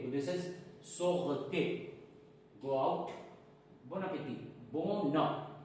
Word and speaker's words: bon appétit: Whenever first word is starting with a consonant and another one word is starting with a vowel, we have to pronounce them together. So it will be N and A will be na.